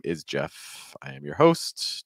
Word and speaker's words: Jeff: In case you're wondering, my name is Jeff. I am your host. Jeff rhymes with breath, which is one of